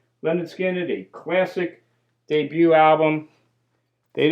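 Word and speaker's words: Lynyrd Skynyrd: skinned did not disappoint their first album of course is pronounced lonard skinned a classic debut album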